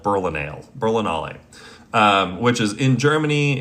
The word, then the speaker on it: Berlinale: Berlinal Berlinala um sorry it's German it's pronounced it's spelled Berlinale Berlinale um which is in Germany it's uh really